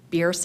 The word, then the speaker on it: Bierce: little tutorial on how the correct pronunciation of this corridor is, and it's Bierce. And so I believe our tutorial is working a little bit because I heard 2 staff members pronounce it correctly today already in your agenda. So met Marty so it's a pioneering family, and so a great way to remember it is Bierce is fierce.